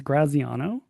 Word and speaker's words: Graziano: It's Graziano.